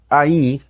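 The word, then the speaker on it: עין: O olho em hebraico é Ain e tem exatamente a mesma pronúncia do nome da letra hebraica Ain.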